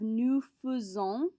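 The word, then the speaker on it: nous faisons: second column we have new fuson this is an irregular pronunciation we can't follow our typical pronunciation rules with the verb faison so we have to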